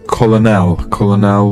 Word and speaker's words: colonel: It's difficult because even though there's a C and two O's, it's actually pronounced with a K and two E's、这个单词要注意是因为虽然说有一个 C 和这个 O